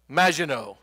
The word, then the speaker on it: Maginot: So I want direction on how to pronounce this word. M-A-G-I-N-O-T. Maginot.